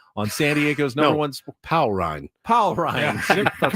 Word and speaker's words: Paul Rind: Powell Rind. Powell Rind. Yeah. That's right, Powell Rind.